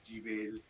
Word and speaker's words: DeVille: Is it Deville? Deville? How do you say it? Deville. Deville. Like the cat.